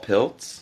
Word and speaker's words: Pilcz: My name is Piltz. And why don't you spell it?